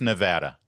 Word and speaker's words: Nevada: It's pronounced Nevada.